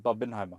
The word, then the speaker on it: Barbenheimer: It's Barbenheimer.